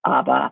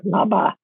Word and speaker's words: Aba: This town, I'm just going to use the Chinese pronunciation because it's easier. It's Aba, but the Tibetan say Nola or Naba. Depends on the dialect.